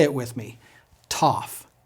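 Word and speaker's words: Tau: say it with me Sigma s Sigma s Toof it sounds just like our T TT tof notice how I'm pronouncing the name of the letter its name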